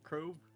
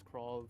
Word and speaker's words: Krovv: Is it Crow? Uh, I pronounce as Cro. It can be pronounced as crave. It's It's like either way.